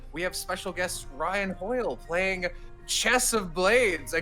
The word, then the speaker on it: Hoyle: Yes, Hoyle is the correct pronunciation.